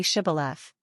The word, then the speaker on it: shibboleth: People fleeing across the river were asked to say shibboleth. Those who couldn't pronounce the first sh sound, mostly enemy Ephraimites, were revealed by their tongues and often denied passage.